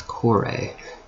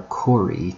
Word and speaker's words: kore: The female counterpart is kore, or kori to use a more modern pronunciation.